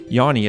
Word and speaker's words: Jāņi: ligue and mid-summer traditions or yani as she told me was the correct way to say it just a minute ago but also was one